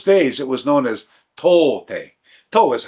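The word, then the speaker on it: 唐手: So in the Chinese pronunciation, we say Tang or To. And the Japanese pronunciation is Kara.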